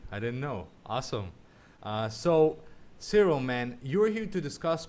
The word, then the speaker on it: Cyril: That's Cyril, my name. Yes, that's how it's pronounced.